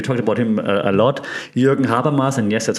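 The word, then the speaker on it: Jürgen Habermas: coin and we talked about him a lot Jurgen haras and yes that's how you pronounce the name trusted German um that has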